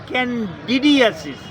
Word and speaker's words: ক্যানডিডিয়াসিস: রোগটার নাম vaginal candidosis আমি আবার বলতেছি ভ্যাজাইনাল ক্যান্ডিডিয়াসিস দুটাই কিন্তু উচ্চারণ হয় ভ্যাজাইনাল ক্যান্ডিডোসিস ক্যান্ডিডিয়াসিস দুটাই আমাদের মেডিকেল